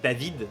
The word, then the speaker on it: David: anglophones qui me regardent David en français ça se prononce David qui est très proche de la prononciation de Devil en français à savoir Devil et surtout que la